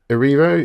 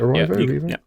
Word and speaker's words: Erivo: So Leading actress, Cynthia Erivo. Is that how you pronounce it? Yep, Erivo?